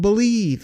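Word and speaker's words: Bleav: That's called Believe, and that's spelled B-L-E-A-V in Lions, Believe in Lions with myself and Lions legendary safety, Benny Blades.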